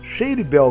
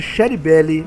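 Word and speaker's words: Shady Belle: Shady Bell, que é pronunciado corretamente Shady Bell. Eu chamava de Sherry Belly, mas é Shady Bell.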